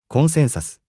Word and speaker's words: コンセンサス: Consensus, we pronounce it コンセンサス。